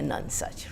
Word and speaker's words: nonesuch: in love with you it's supposed to be a nun such right that was essentially